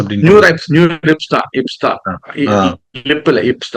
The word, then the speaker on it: NeurIPS: New Year லிப்ஸா நியூ ரிப்ஸான்னு தெரியல, பட் ரெண்டு விதமான சொல்லிட்டு இருக்காங்க. ஸோ நியூர் ஐபிஎஸ் அப்படின்னு நியூ ரிப்ஸ் தான், இப்ஸ் தான், லிப்ல இப்ஸ் தான்.